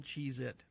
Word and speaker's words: Cheez-It: spell it c-h-e-e-z-i-t yes see I misled I misled you it's Cheez-It yeah yeah it's not cheese it's yeah there's no ass there's there's no people think it's a z but yeah the Looney